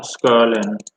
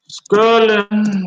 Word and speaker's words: Scirlin: So yeah, Skirlin. Skirlin, there you go. That's how his name is pronounced.